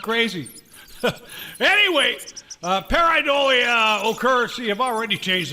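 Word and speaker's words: pareidolia: Paridolia.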